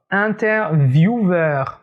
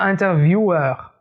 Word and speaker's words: interviewer: par bruxelles faites attention le mot interviewer interviewer et pas interview war non c'est pas quoique